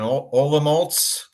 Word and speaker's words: Olomouc: the Czech Republic in Olomouc. Just to correct the pronunciation, your pronunciation of the university was perfect, Palacký, but the city's pronounced Olomouc.